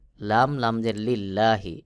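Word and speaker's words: لِلَّهِ: লি লাম লাম জের লিল্লাহি এই লামকে পাতলা করে পড়তে হবে যেমন লিল্লাহি আমি যে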